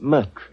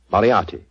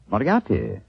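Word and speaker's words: Moriarty: I'm afraid I'll have to begin calling it the way it looks. M O R I A R T Y. Moriati. Moriati.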